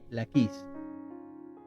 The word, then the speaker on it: Laquis: Luego también llamó al rey Jafía, que era el rey de Laquis, o como aparece aquí, Laquis. Amén. Con acento en la I, Laquis.